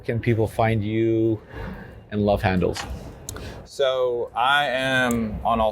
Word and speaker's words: Love Handle: No S. I've been pronouncing No it S. Yeah. Love Handle in the singular.